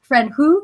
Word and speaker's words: Franju: I think it's like George's it's like a French name, Frank something, Franju. I don't know. I can't pronounce it. Yeah, Georges Franju, Franju.